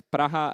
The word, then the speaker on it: Praha: this is Polish uh these are pronounced very similarly I'm not sure about the Ukrainian but the cze is praha and uh the Polish is not entirely prag but something in between uh but still these